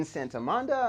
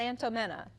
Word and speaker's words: Santomenna: a special guest, Lynn Santomenna. I'm sorry I forgot your... It's okay. Correct me. How do you Lynette, pronounce it? Santomenna. Got it. Santomenna. It's Italian. Perfect.